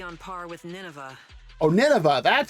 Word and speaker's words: Nineveh: I'd say its threat level might be on par with Nineveh, Oh, Nineveh.